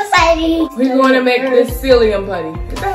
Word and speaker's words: psyllium: We're gonna make this psyllium putty. Is that how you say that there? P is silent, right?